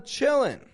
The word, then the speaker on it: chilling: your time you're chilling notice I'm not pronouncing the NG on the end of chilling like I taught NG before chilling in in in in in okay Americans do this because because we're lazy